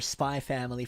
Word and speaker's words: Spy x Family: gonna pronounce it as spy family because most people said it's like hunter hunter where the x is silent it's not hunter x